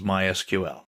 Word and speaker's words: MySQL: so what is MySQL well it's a version of SQL we'll talk about that in a minute people in the know don't say MySQL they say my SQL that's generally how it's pronounced in SQL is usually